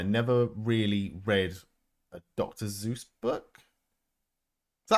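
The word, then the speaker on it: Seuss: Zeus book. Is that how you pronounce it or is it pronounced something else?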